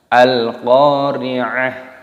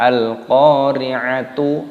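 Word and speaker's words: القارعة: Ketika tak marbutoh ini waqaf berhenti, maka di sini dimatikan, dibaca ha. Al-Qari'ah, bukan al-qari'atu ataupun al-qari'at. Nah, salah. Tapi al-qari'ah.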